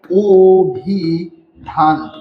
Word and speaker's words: অভিধান: ও এর মত হবে তো দেখেন এখানে ও এর মত হলে কি হচ্ছে এখানে ওভিধান ওভিধান আমাদের এইযে কেন হচ্ছে যে